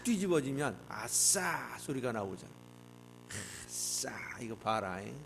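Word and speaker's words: עשה: 발음을 잘해야 돼요. 아싸.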